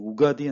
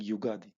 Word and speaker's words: Ugadi: I hear people saying Ugadi and I hear people saying Yugadi. So I'm using Yugadi here just for easy pronunciation.